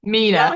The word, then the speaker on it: Mena: board Camp Mine and it's Mena I think is how you say it Mina Mina yes Mina and uh it's kind